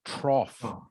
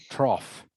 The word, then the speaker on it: trough: but is actually pronounced trough okay trough this in this one the gh is pronounced as an f and there is no